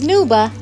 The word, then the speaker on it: snuba: and we are now on our way to make the boat so snooper yes snooba not scuba i said it right snooba s n u b a what is